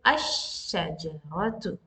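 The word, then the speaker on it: الشجرة: No, we will not pronounce the al here, because the next letter is with shadda. So what this lam is from Shamsiya letter, some Shamsiya lam. So we will say ash-shajaratu.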